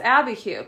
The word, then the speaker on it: Abiquiu: And Dain said, "That's Abiquiu.